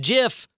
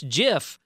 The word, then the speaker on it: GIF: in that article as you mispronounced GIF I was waiting for you to get there the man himself that created it said damn it it's JF and he took to dang